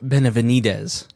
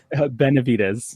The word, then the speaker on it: Benvitz: Um, Benedz, did I say it right? Close enough. What What is it? Benvitz.